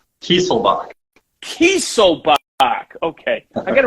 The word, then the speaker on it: Kieselbach: We have Russell, and let me see if I say this, Kieselbach? Kieselbach. Kieselbach. Okay. I got to remember that. My pronunciations are horrible.